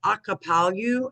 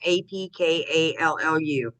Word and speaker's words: Apkallu: Okay, so post-flood, I'm going to call it Akapalu. I don't know how to pronounce it. It's Apkallu.